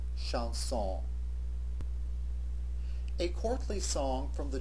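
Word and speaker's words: chanson: on the plural form both of the words are pronounced exactly the same way in the singular and in the plural Shon a courtly song from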